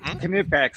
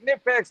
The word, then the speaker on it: Knipex: going to say, oh, you should have pronounced it Knipex, don't pronounce the K. And then there's the other side that says, yeah, you pronounced it right. That's how they say it.